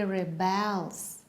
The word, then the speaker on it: rebels: rebel and where is the stress on the verb yes it's on the second syllable he rebels rebels so what's this it's